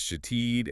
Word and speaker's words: Shithead: Yes, pronounced shatid and aranzello.